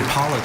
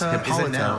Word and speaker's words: Hippolyta: You Hippolyta.